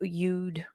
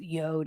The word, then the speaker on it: yod: his left hand forms a yod or you you'd uh I pronounce it yod I always have but that's just me depending on the context